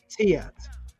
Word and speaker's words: tyet: Oh, TYET, as in Tet Auset, the blood of Isis. The expansion swirl of growth. This is called the Tet.